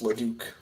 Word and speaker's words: Leduc: my last name though it's leduc but that's no big deal okay it's okay why don't like a duck talk about your best halftime look i've i've heard i've heard some worse pronunciations of my last name so it's all good well duke duke rhymes with puke kind of like the